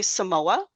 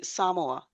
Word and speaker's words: Samoa: Uh, we tend to say Samoa, but I noticed in one of your videos you say Samoa. Yeah. Well, that's that's the proper way to say it, you know. Yeah. Most Americans don't put the accent on the right syllable, the syllable.